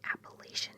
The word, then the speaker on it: Appalachia: If you say it wrong, I will throw an Appalachia.